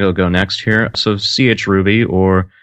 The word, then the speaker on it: chruby: So chruby, that's what I like to call it pretty much. You can pronounce it however But yeah, it's patterned